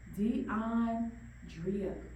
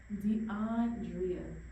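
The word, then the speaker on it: D'Andrea: DeAndrea. DeAndrea.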